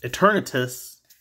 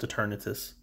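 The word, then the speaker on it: Eternatus: the dividers we have eternitis this time at least i think it's pronounced eternitis it sounds like eternal to me so kind of pronounced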